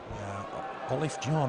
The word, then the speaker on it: Olofinjana: Olofinjana, I'm told. Correct pronunciation.